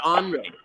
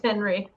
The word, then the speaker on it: Henry: Is it Henry or Henri? It's it's Henry. It is Henry. Okay. Because I thought maybe you didn't pronounce the H or something like that.